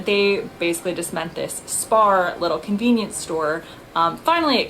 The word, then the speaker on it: SPAR: Turns out it's spelled S-P-A-R. I would call it spar. They call it, with their accents, it sounds to my ears like spa.